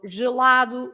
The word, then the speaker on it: gelado: So these are words that are pronounced with the sound j, Yeah. because you have the G next to an E or to an I.